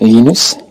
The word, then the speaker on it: Linus: When I speak Swedish, it's Linus. When I speak Finnish, it's Linus. When I speak English, it's Linus. And I really don't care how people pronounce my name.